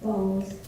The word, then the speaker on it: Boes: Bose.